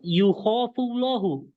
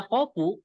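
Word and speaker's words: يُخاف الله: Ini dibaca Yakofullah, Yakofullahu, atau Yukhofullahu. Mana yang benar? Ya yakhafullah. khofu. Bukan, Eh, Oh, Yukhofullahu. Kalau kita bacanya Yakhofu, itu artinya Allah takut.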